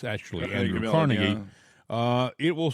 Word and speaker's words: Carnegie: on uh the internet and type in Andrew Carnegie or Carnegie right Andrew Carnegie uh in in Pittsburg they pronounce it carnegi but it's actually andw Carnegie uh it will say American industrialist right but